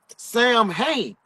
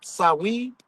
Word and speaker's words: Samhain: The ritual we embrace as Halloween was originally called the Feast of the Dead, Samhain, or pronounced Samhain, or Samhain. Yes, so Wayne. Mm-hmm.